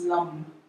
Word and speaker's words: lam: and your head is lamb l-a-m or pronounced lung so come to hugging